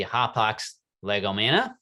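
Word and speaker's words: hapax legomena: greek this would be hop ox legomana and if you were to pronounce it in greek the singular form so that hapock's legomania is plural hop ox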